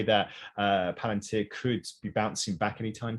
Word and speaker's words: Palantir: is uh again i hope i get this pronunciation correct uh plant paladin volunteer palantir yeah thank you um so they're um allegedly